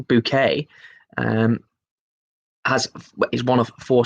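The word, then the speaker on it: Bucket: the keeping up appearances mrs. bouquet pronounced mrs. book it pronounced bouquet as is one of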